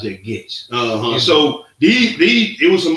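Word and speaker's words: Goetze: That's how you pronounce that, Getz.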